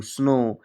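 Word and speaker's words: snow: नौवां रूल है जब ओ के बाद कहीं भी लिखा हो और उसके बाद डब्ल्यू आए तो हम ओ डब्ल्यू को ओ से पढ़ते हैं।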